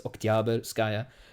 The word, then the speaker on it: Oktyabrskaya: by the name Maria Oktyabrskaya, which everybody's supposed to buy. I know that in Russian it's supposed to be emphasis on the middle syllable, so it's Oktyabrskaya.